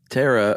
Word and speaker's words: pterosaur: okay uh yeah these Tara or starts with a P of course is silent P um that is from